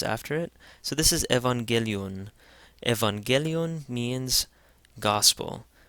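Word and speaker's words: ⲉⲩⲁⲅⲅⲉⲗⲓⲟⲛ: Again the first gamma is pronounced like an n. The second one is pronounced like a hard G because an A comes after it. So this is Evangelion.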